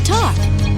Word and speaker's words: talk: That word is the word talk. Spelled T A L K. Ooh. Sometimes L is silent, right?